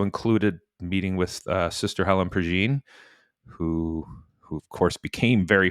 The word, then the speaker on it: Prejean: First off, I had no idea it was Pergine. I've been pronouncing it Prejean for years, like rhymes with Dijon.